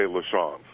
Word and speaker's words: Lachance: come on this show when you say lesons because it's the way my grandfather said it and it's actually the